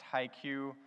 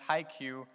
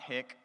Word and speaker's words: HiQ: Cosmetics, and it's pronounced HiQ. I guess that kind of looks like high K if you want to speak Spanish, but it's HiQ, it's not Hick. We get that a lot, so it's HiQ.